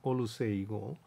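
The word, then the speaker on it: Oluseyi: 근데 당사자가 올루세이 이렇게 해달라고 요청을 해서 원래는 제임스 플러머 주니어였습니다만은 이런 아프리카계 이름으로 바꾼 흑인 천체 물리학자입니다.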